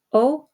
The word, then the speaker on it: ho: O, hai, a, abbiamo, avete, hanno. Okay, notice that the H is silent, but we retain it so that you know that it's the conjugated form of avere.